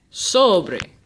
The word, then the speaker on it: sobre: last syllable beer now the last word sobre I'll say it one more time sobre Oh Bray is Jana because the emphasis is on the second to last syllable soubry what I've done